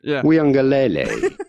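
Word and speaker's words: Uiagalelei: which I've really worked on the pronounce the pronunciation of the name go for it okay so his name is DJ mhm weele that's me saying it wow you do it again yeah DJ weele perfect say it right every time when when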